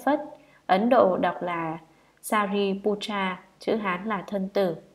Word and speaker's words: Sariputra: Ngài Xá Lợi Phất, Ấn Độ đọc là Sariputra, chữ Hán là thân tử.